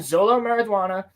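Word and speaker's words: Xolo Maridueña: Beetle's a sick character and they're gonna end Zolo marijuana is a great actor is that how you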